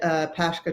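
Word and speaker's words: Pascha: used to work at cadburys and he founded pashka chocolate it's spelled p-a-s-c-h-a after his daughter was diagnosed with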